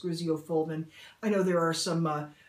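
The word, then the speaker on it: griseofulvin: need an oral medication i'm not positive i'm pronouncing this right but i believe it's pronounced graziofoldman i know there are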